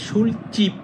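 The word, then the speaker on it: 술집: অর্থ দোকান বা বাড়ি যখন এটা একসাথে উচ্চারণ করবেন তখন হবে সুলচিপ এটা জিপ হবে না এটা হবে চিপ সুলচিপ মানে মদের দোকান এই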